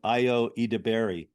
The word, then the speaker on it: Ayo Edebiri: I just saw a show on Broadway called Proof that stars, I believe he she pronounces her name Ayo Edebiri.